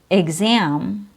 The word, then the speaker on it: exam: Executive ex is followed by the vowel E in the word exam. Exam. EX is followed by the letter A.